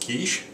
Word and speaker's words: quiche: leans over and says I do believe it's pronounced kich okay bad joke you